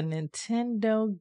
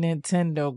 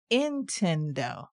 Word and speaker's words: Nintendo: like Nintendo was difficult a lot of the elders and even my mom called it intendo my brother were quickly corrected by telling us what the right pronunciation was he would say